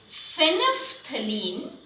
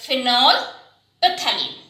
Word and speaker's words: phenolphthalein: is itself orange in color to pink and phenophthalene see the spelling though we call it out